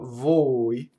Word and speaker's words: voi: So the fricatives, like a V, they don't stop phonation. You just hang on to them for a second for the double. So voi, V-O-I.